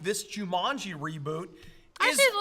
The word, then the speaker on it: Jumanji: do you say it Jumanji okay how do you say it do you mock Jumanji what you're you say Jumanji yeah a little bit more you're putting an emphasis on the last okay so Jumanji yeah